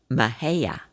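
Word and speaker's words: Mexia: Of course, the correct pronunciation of where they were is Mahia.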